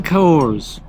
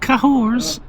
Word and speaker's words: Cahors: Welcome to the cahors. Not cahors. The h is silent like a lot of other words like exhibition, archaeology, and vehicle.